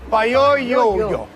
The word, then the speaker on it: Payoyo: Payoyo.